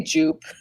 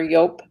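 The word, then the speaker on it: Joop!: this is um i i'm just gonna say jupe like a total midwesterner i think it's pronounced you or yop but anyway it's wow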